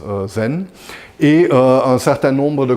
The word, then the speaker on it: zen: terme de méditation diana et un japonais ça se prononce zen et un certain nombre